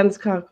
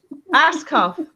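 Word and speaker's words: Ascough: Tell me pronounce this. Yeah, Anscock was on, and she was talking about.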